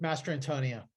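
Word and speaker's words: Mastrantonio: I cannot pronounce last name how do you pronounce it Mary Elizabeth Master Antonia yes she is on the level of Newman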